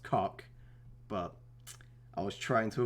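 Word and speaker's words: Kok: Yes, I know that there's a player on their team whose name is spelled K-O-K and it's definitely pronounced cock, but I was trying to avoid it, but I couldn't.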